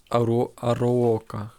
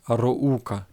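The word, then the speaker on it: Arouca: буде з трубінем Бенфіка ароока здається Бенфіка ароука ароука так вимовляється ця назва команди і Бенфіка рознесла їх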